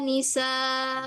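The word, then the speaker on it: النِّسَاءِ: Ketika kita wakaf, maka hamzahnya diapain? Di nabar, Ustazah. Nabar. Iya, masyaallah. Nabar ya. Jangan lupa nabrnya ya. Wala nisaum min nisa. Hmm. Ada tonjolan sedikit yuk. Walaisa. Nisa. Oh, heeh. Biar hamzahnya enggak hilang ya.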